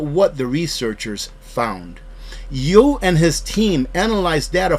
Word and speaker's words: Yu: I believe that's how you pronounce his last name, Yu, Y-O-U, so that's how I'm going to pronounce it from here on.